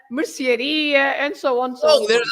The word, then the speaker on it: mercearia: The words ending in ia, they are stressed at the end. So you have lots of shops, for example. You say padaria, pastelaria, gelataria, sapataria, mercearia, and so on.